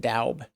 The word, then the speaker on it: Dobbs: They're calling it 5-yard gain, and that was to Dobbs. Dobbs is weird because the way his name is spelled, I know someone that has that last name, and they pronounce it differently. They pronounce it Daub.